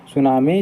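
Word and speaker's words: tsunami: आई ठीक है दोस्तों सुनामी जो लगता है ए से लेकिन होता है टी से ठीक है तो आपको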